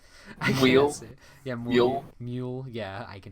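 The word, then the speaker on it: Muyl: Alex Moyle. Mule.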